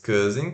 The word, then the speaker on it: cousin: E sílaba tônica, cousin. Cousin.